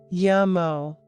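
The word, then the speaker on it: Yummo: lesson food is love yamo I see this if something is so good that yum just isn't enough of an exclamation the accent is on the o as in O that is so good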